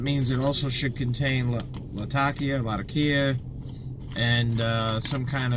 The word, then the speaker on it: Latakia: the latakia or latakia i know everybody pronounces it latakia i pronounce it latakia the reason why is i have a friend from syria and he pronounces it latakia so that's that's why i do it that way and that's where the city is that's where the tobacco's made so right now i'm